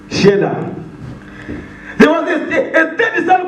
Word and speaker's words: Shelah: I call it Selah. I don't know how you pronounce it. How do you pronounce it, Elder? Sheila. Shelah.